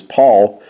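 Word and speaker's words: PAVL: says the Epistle of now notice how Paul was spelled here it's p a v l and that's because the V and the U Were carried the u sound and the V actually was a new sound that came into our language but it actually carried the u sound as it would have been PA pronounced as Paul but it uh is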